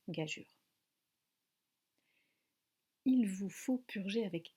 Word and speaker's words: gageure: j'ai eu une paire peut on peut le prononcer gaza mais c'est moins tolérées et ça reste plus correct par rapport à l'étymologie de prononcer gageure il vous faut purger avec quatre grades et